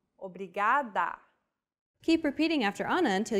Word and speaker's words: obrigada: is pronouncing this sound think of the quick tapping motion your tongue makes as it strikes the top gum ridge in words like ladder or butter altogether it's obrigado obrigada okay one last time